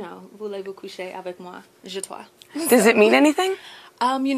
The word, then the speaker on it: Zshatwa: It's Zshatwa for the record with a Z, not a J. It's like, you know, voulez-vous coucher avec moi? Zshatwa.